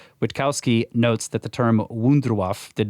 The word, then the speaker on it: Wunderwaffe: Wunderwaffe. Wunderwaffe. Okay. That's better. It's all the W's are V sounds, right? Okay. And the V is an F sound. Wunderwaffe.